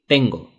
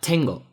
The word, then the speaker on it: tengo: The letter T. Te in Spanish, te. Without any aspiration. That's the difference. So I say tengo. It's not tengo, tengo, no. Tengo. No aspiration at all.